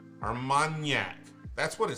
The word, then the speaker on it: Armagnac: and Yak so not Armagnac there's a d almond yak there's not a D in there there's not a d like GN is is that's the sound Armagnac that's what it says